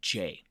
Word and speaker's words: Rovinj: So our first stop was Rovinj, and that's Rovinj.